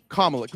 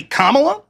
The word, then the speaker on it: Kamala: Kamala. No, I'm just wondering. Is that it? Is that how you pronounce it? Is it Kamala or Kamala? Kamala. Kamala. Cool.